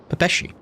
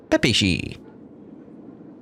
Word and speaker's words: Pepeshi: Oh, is that how you say it? Pepeshi. I thought it was Pepeshi.